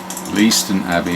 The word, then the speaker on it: Leiston: Leiston Abbey, we would pronounce it there, and it's basically a beautiful